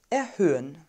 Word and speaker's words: erhöhen: öl und das zweite haar wird nicht gesprochen wir sagen also nicht erhöhen sondern erhöhen das unternehmen muss die preise